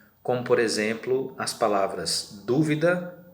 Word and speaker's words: dúvida: acento nesse caso aí o acento agudo colocado aí na primeira palavra dúvida então é este assento que vai marcar a sílaba tônica aquela mais forte então quando você vai